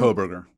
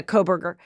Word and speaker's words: Kohberger: How do you pronounce his name again? Kohberger. Yeah, Kohberger.